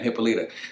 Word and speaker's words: Hippolyta: Hippolyta, I believe that's her name. How you say it? We're gonna call her Hip for the rest of this fucking video, right? Hippolyta. That's her name, Hippolyta.